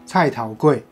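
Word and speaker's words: 菜頭粿: 卜糕呢，它在台语的发音叫菜头粿。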